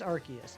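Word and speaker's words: Arceus: But but uh yeah, I mean it's it's Archus. It's Archus, but it could be Chaos or Cha. Yeah, not Chaos. Chaos could be interesting.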